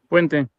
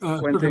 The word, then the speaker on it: Fuente: However you pronounce that. Fuente. Fuente. Yep, Fuente.